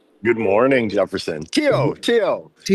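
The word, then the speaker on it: Tío: How do you pronounce that? Good morning, Jefferson. Tio Tio Tio Chuck Espano for uncle.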